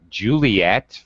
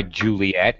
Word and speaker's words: Juliet: And that is why Juliet here in this alphabet has to have two T's. So French people will pronounce it.